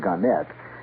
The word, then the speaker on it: Gannett: Gannett, or Gannett, they prefer to pronounce it Gannett, Westchester newspapers.